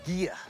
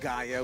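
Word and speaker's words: Ghia: It's actually pronounced Gia, not Gaia, which is the Mother Earth reference.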